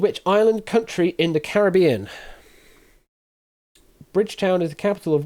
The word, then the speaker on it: Caribbean: Bridgetown is the capital of which island country in the Caribbean? Bridgetown is the capital of which island country in the Caribbean or the Caribbean if you want to say it like that.